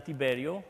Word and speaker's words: Tiberiu: It's easier for anyone to pronounce it than Tiberiu. Or if you think about James Tiberius Kirk, then you might be home. You know, it might be easy for you to know how to pronounce Tiberiu.